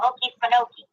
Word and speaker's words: Okefenokee: Legend of the Okefenokee Swamp. Yeah, that's how you say it.